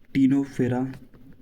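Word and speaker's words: Ctenophora: पोरफेरा अगर मैं प्रोनाउंसिएट गलत करूं तो ओके कर लेना अपने हिसाब से कोलेंट्रेटा टीनोफेरा ये सी साइलेंट है प्लेट हेल्मेंथिस दिख रहा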